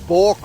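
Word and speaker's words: bauxite: said a minute ago is spelt v a u x i t e sounds like pork right but it's bork right and bork's right and at the end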